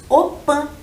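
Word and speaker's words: opy: A casa de reza dos indígenas se escreve Opi, mas nós lemos Opã.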